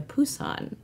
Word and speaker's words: Busan: Which I was pronouncing with a hard B for a long time until recently. I know, I was too. I was reading about it and I was like, oh, it's Train to Busan, correct?